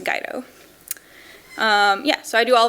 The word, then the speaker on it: Guido: guide oh yes my last name name is pronounced guide oh yeah so I do all of my work